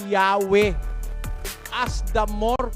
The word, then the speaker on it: Yahweh: While inclining to view the pronunciation Yahweh as the more correct way, we have retained the form Jehovah because of people's familiarity with it since the 14th century.